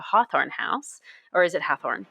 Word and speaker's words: Hathorne: It's Hathorne. Sorry. Yeah. They do that on purpose. It's so dumb. Okay. So they do that because they can't, I guess, for some reason, say Hawthorne, like Hawthorne, however that's spelled.